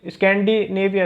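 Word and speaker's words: Scandinavia: अब देखिए ये जो स्कैंडिनेविया, सॉरी मैं प्रोनाउंसिएशन थोड़ा गलत कर रहा था, इंग्लिश के हिसाब से अगर मैं करूँ तो ये है स्कैंडिनेविया।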